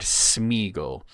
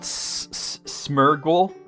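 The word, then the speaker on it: Sméagol: So Smeaggle's not an Elvish name, not Smurgle. Smur Smeurggle.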